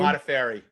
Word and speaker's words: Modafferi: How do we pronounce her last name? Modafferi.